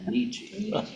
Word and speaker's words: Nietzsche: By the way, Nietzsche, if you want to impress people, you know, Nietzsche. You were wondering how to pronounce that.